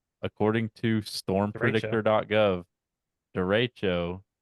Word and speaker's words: derecho: did you just try to pronounce Derico? It's derecho. It's Derico.